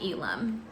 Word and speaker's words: Elim: I pronounce his name Elim, so maybe that's how you say it.